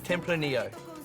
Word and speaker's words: Tempranillo: beautifully with this full-bodied white wine and finally templar neo that's correct you do not pronounce the two elves temple feminino is spain's